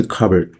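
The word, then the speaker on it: cupboard: اینجا توجه کنید که من کاپ برد رو به صورت کابرد تلفظ کردم.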